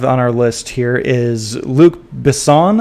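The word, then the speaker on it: Luc Besson: our list here is Luke Bon I believe is how you pronounce his name is working on a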